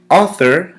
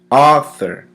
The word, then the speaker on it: author: gonna repent for syllables author has two syllables ah third author the emphasis is placed on the first syllable author notice how the